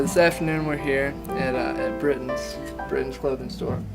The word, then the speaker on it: Brittons: Okay, so this afternoon we're here at Brittons clothing store. Correct. Am I pronouncing it right with Lucky?